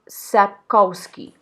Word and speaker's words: Sapkowski: I'm not even attempting to read the first name, but the second name is Sapkowski.